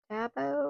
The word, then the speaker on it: Stabilo: This is called the and oh, a stabilo or stabilo. Stabilo, that's how you say it.